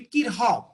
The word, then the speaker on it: Kirchhoff: So actually that pronunciation, I think C should remain silent. It will be Kirchhoff, right?